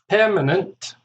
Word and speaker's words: permanent: Permanent, 3 syllables, stress on the first syllable.